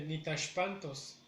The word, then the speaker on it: nitashpantos: Si nos damos cuenta, lleva acento en la tercera sílaba.